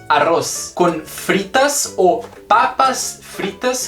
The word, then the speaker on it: arroz: pode ser arroz e se pronuncia arroz arroz com fritas ou Papas